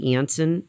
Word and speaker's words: Janssen: under the auspices of janssen some people pronounce it anson vaccine and that is